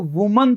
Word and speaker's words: women: जो वुमन था, ऊ का साउंड जो आ रहा था, वो देखो यहाँ पे विमेन बन जाएगा, प्लूरल बनते क्या बन जाएगा, विमेन।